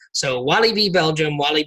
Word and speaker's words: Walibi: we wanted to know because we've heard different pronunciations of this before a lot of people just say wallaby like the animal and we found out or